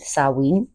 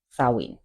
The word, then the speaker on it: Samhain: There's a lot of debate online on how to actually pronounce the Celtic/pagan version of the word. I will be going with Samhain. Samhain.